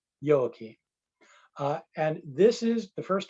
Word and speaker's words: Joachim: named anna and her father was named yoaki spelled with a j yoki and this is the